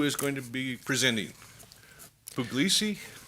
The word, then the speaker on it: Puglisi: Puglisi? Puglisi. I've mispronounced your name for years.